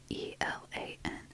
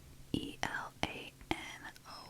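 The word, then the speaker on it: élan: We want pronunciation. Aylin. Elan or Elon. I was right, Elan.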